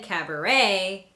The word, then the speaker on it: cabaret: So in words like ballet, rapport, gourmet, chalet, and cabaret, the T is silent.